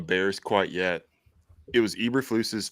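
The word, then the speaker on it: Eberflus: quite yet it was Eber flus's first year that's how you say his name um throw away like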